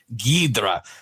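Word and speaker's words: Ghidorah: and invasion of astromonster they pronounce it gidra and when you hear it in the Japanese you definitely hear him say gidra and it does have the o r ah a little bit in there but it's so quick that it comes out like a gee so but that's just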